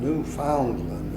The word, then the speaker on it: Newfoundland: It was not Newfoundland, it was Newfoundland. in Canada, all the accent is on the last syllable. So when you say Canada, you're supposed to say Canada, and Labrador, and Newfoundland. And that's the way they want you to pronounce it.